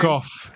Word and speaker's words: Gough: And what I love about the performance is with the Michael Gough, I don't know how you pronounce his surname. Gough.